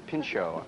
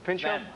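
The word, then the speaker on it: Pinchot: marklin Baker and and Bronson I can never pronounce that Man's last name pincho is pincho pincho okay still in control Todd I don't like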